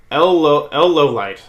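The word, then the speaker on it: Lawliet: I've always thought L Lowlight. And yes, that is how you pronounce his last name. It's French. I've always thought that he was probably the best detective I've seen.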